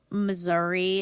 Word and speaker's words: Missouri: the country like um Missouri is often pronounced a certain way Missour yeah I won't do that either